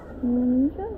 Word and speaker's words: Melanesia: Melanesia, yes, that's how you pronounce it.